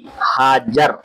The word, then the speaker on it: हाजर: औलाद ना हुई तो हजरत सारा ने ये बे औलाद होने की कैफियत देखी तो अपनी बांधी हाजर हाजरा आमतौर पर कहते हैं। लेकिन सही लफज़ वो हाजर है।